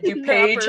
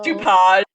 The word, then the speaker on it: DuPage: mispronounce um naperville's napperville and dupage as dupont but there's another podcast